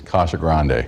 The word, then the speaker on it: Casa Grande: coming in from Casa Grande dispatch the proper pronunciation of the city is Casa Grande but mayor Bob Jackson admits that's not how